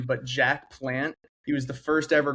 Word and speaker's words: Jacques Plante: Yeah, Jacques Jacques Plante is is that is the pronunciation.